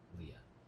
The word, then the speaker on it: Liah: So Leah is spelled Liah.